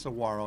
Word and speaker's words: Saguaro: Saguaro but that's pronounced Saguaro in fact in Mexico it's they don't use a g they use an H but um we're gonna